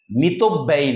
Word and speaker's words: মিতব্যয়ী: আয় বুঝে ব্যয় করে যে, মিত ব্যয়ী। যে আয় বুঝে ব্যয় করে না সে হচ্ছে অমিত ব্যয়ী। অমিত, মিতব্যয়ী নয়, উচ্চারণটা মিতব্যয়ী।